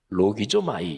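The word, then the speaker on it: λογίζομαι: 그러니까 여길지어다 이렇게 번역된 헬라어 동사가 헬라어 발음을 하면 로기조마이 이렇게 발음하는데요.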